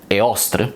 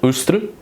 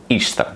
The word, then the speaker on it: Ēostre: concerning the Germanic anglo-saxon goddess often pronounced *éh-oss-tre* (Eostre), well, she is pronounced at least in anglo-saxon either *úss-tre* or *íss-trá* (Ēostre) The latter is quite